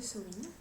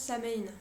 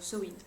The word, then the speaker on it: Samhain: en fait ce mot-là techniquement il se prononce sen après si je le